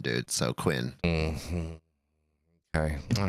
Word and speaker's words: Kouign: But how do you pronounce it? That's the real fun question. Kouign Amann. Queen. That's not Queen. It is Kouign, dude. Kouign. Well, the pronunciation says Kwin, dude. So Quinn.